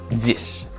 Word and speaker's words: dix: On écrit 10 avec un X qu'on prononce comme un S.